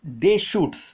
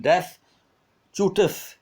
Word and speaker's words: Deschutes: देखो इसका pronunciation डैश चूटस, ऐसा कुछ मत बोलना उसको. डे डे shoots, डे shoots, S भी नहीं लगेगा, sorry. डे शूट, डे शूट, एस is silent. दोनों तरफ जो एस बिगनिंग में आ रहा है और लास्ट में आ रहा है, एस साइलेंट है.